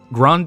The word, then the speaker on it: Grande: Grande is pronounced as grand. Oh, grand. Oh, sorry. The e is silent.